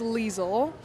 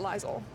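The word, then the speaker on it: Liesel: Or is it lizel? It's leisel. I think I was saying lizel. Okay. When I was I think it's leisel. I don't know. Um we'll just both pronounce it our own ways.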